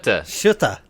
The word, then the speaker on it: Schutte: Schutte.